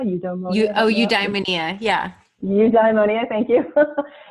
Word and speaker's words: eudaimonia: It's that, I cannot pronounce that word, eudaimonia. Eudaimonia, yeah.